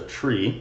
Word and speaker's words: trie: we have this structure called a tree it's spelled TR i e and it helps us